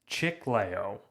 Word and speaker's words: Chiclayo: Chiclayo, Peru, which almost looks like Chicago. It's spelled Chiclayo.